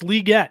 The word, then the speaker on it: Legette: It's Legette. That's how he pronounced it.